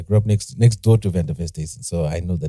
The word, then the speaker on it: van der Westhuizen: Team Zimbabwe, Paige van der Westhuizen.